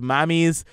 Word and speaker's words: Mammie's: like you see this here together so it's mommy's banana bread and muffins yeah that I pronounce it right yes okay so tell us